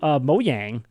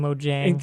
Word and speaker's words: Mojang: one thing about the mo yang cuz now I know how to say it it just bugs me so like saying mojang and cuz it makes